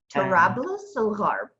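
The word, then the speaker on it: طرابلس الغرب: Tarablis al-Gharb. Tarablis al-Gharb. Tarablis. Hard. Al-Gharb. El-Harb. Okay. El-Gharb. El-Harb. Tarablis al-Gharb, Western Tripoli.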